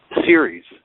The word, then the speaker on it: Ceres: People are asking me about this planet spelled Ceres, which is pronounced Ceres.